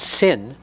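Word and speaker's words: שׂ: the concept of kindness when the dot is on the left side the shin is pronounced sin this alludes to guevara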